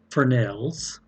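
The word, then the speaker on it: Fresnel: lighting are ellipsoidal spotlights for nails yes it's a french word and the s is silent floods and cyclites and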